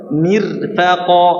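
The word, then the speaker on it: مرفقا: Itu contohnya sini mirsada lagi contoh lagi misalnya yang tipis adalah mirfaqo atau mirfaqo ini bacanya mirfaqo atau mirfaqo tipis.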